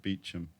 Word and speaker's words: Beauchamp: know that you know that word Beauchamp p-e-a-u-c-h-a-m-p yeah but they pronounce it Beacham oh my God what's